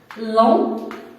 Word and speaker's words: long: Long, T, se prononce pas, long, un des hommes,